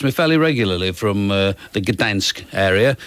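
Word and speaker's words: Gdańsk: fairly regularly from the Gdansk area. You're supposed to say it like that. I heard news people saying it, Gdansk.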